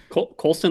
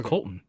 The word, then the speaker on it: Colston: Colston Love. Coloulston. It's Colston, right? Yeah. I thought it was Colton. No, it is Coloulston.